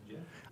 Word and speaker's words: GIF: I think he did say it was Jif. I don't think the creator can say the rules of the English language.